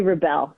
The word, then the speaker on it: Rebell: you for asking josh it's rebelle thank you so much